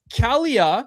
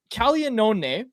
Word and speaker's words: Caglianone: It's Caglia, so g l i, which is actually pronounced g in Italian, but anyways, it's Caglianone cuz there's an n o n e and they just say Caglione.